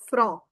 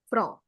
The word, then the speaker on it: front: This is called le front. Le front. Right. Front. Because T I'm putting in A and this is all le front.